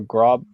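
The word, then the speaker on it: Groß: And is it Gross or Grob? I can't. How do you pronounce it? Yeah. Gross.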